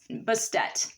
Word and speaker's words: Bastet: that we have is bastet bast depending on who you ask that's how they're going to pronounce it she is one of